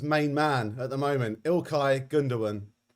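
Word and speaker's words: İlkay Gündoğan: man at the moment ilkai gundawan which i've pronounced correctly for the first time in my life i did loads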